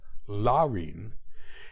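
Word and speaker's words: Laurine: it was Copeland's sister Len spelled l a r i n but pronounced Len eight years his senior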